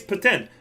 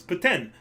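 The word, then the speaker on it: poutine: all sorts of things it's ptin just say paten it's not that freaking hard it's paten you don't even pronounce the E it was the snack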